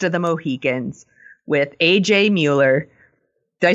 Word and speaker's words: Mueller: His name is Robert Muller. Muller. Exactly. It is spelled, Who the hell are you talking about? I don't get anything Mueller. right. It is spelled Mueller, but it's pronounced Muller.